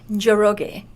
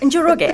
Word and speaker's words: Njoroge: NJOROGE. So the N is silent. Yes, it's the N is silent. Yeah, just NJOROGE.